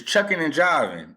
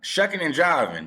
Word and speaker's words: shucking and jiving: This dude is chucking and jiving. Shucking and jiving. That's how you say it? shucking and jiving, bro.